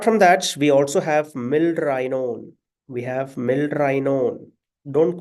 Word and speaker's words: milrinone: To prevent the confusion, just always pronounce these drugs as milrinone. We have an I there. Milrinone.